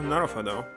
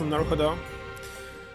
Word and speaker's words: Naruhodo: I don't know where to put the stress. Obviously, there's no stress in Japanese. But sometimes they have like double O or U or something, so it can be pronounced different.